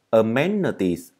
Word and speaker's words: amenities: Đây là âm ơ, chữ ni này đọc là ơ. Amenities.